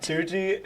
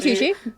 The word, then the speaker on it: Tucci: Tuji. I don't know how to say his name. Stanley Tucci.